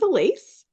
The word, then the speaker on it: Alyce: to start sure um my name's Elise spelled like Alice I got that wrong